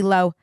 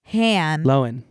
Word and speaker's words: Lohan: pronounce it correctly L it's not Lindsay lowan loen yes Lind loen that one's easy to